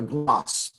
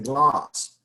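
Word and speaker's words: glace: So a gloss. That's what this is. That's how it's pronounced. It's a gloss.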